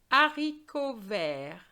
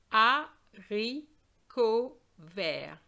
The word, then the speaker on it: haricot vert: Haricot vert. Haricot vert. Un haricot vert. There's no liaison between the UN and the H because this H is not silent.